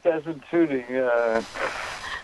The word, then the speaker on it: Desmond Tutu: Lama and Desmond Tutu, do I say it right? Tutu? Yes, Desmond Tutu.